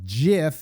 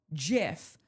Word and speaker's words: GIF: Insisted it's pronounced with a soft G. GIF, but both pronunciations are widely accepted by dictionaries like Oxford English dictionary and both are in common use.